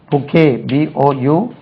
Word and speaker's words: bouquet: he gave her a beautiful bouquet. BOUQUET bouquet.